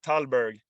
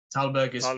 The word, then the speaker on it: Tallberg: to pronounce your name you can pronounce it like talburg talberg it's the right yeah and it's in sweden it's uh talabadi there you go so i either is fine but tauberg i think